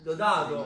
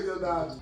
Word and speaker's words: Diodato: Dodato. Ma si scemo. No, Mirko, non ti arrabbiare però. Non si dice. Ho detto già io Diodato.